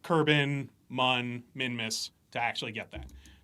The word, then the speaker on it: Mun: Well, we thought it was Moon, and then we were told it was Mun. And no one remembers that. It's Mun.